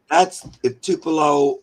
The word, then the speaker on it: Tupelo: The reason I say Tupelo is because Tupelo, Mississippi, is the little town that Elvis Presley was born in.